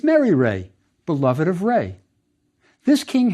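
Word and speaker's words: Meryre: means beloved don't forget honorific placement yes it's Mary Ray beloved of Ray this King has two names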